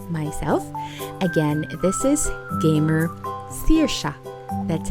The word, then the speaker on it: Saoirse: That's how you pronounce my name, Saoirse. It's a Welsh name. So if you would want to pronounce it, Saoirse, Seer as in S-E-E-R, and Sha as in S-H-A, Saoirse.